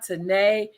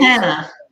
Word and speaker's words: Tana: But today, and I didn't even ask you, are you Tana, Tanae, or the correct pronunciation? Tana. Tana like Montana.